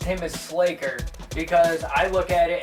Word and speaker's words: Sla'ker: I'm gonna call him Sla'ker because it rhymes with Faker, and Faker is one of my favorites, so that's what I'm gonna call him.